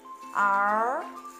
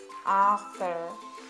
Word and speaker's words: Arthur: Arthur. Arthur. Dans le mot Arthur, on a le TH. En anglais, le TH est très important. Ça se prononce comme un S ou un Z sur la langue.